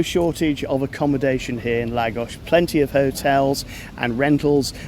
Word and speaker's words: Lagos: And then, from Faro, took a private transfer to here in Lagos, l a g o s, not pronounced Lagos. And if you want to be clever about it, potentially pronounced Lagush, but we'll stick with